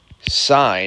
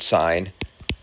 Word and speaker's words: sine: the mathematical terms are sine it's spelled like that but it's sin on your calculator but we pronounce it sine cosine again short for